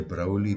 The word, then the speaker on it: Broglie: But among them, if you take somebody like de Broglie Bohm that I just spoke about now, and got waylaid by the pronunciation of the silent G, but they came up